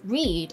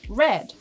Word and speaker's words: read: It may be pronounced read, as I did just now, or read. The difference in pronunciation results in different meanings, right?